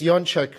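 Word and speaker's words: Jaczek: community services Dr Helena yoncek who will also be speaking um later uh this morning and uh it's yanchuk because we're polish and that is the proper way to pronounce it oh uh I'd like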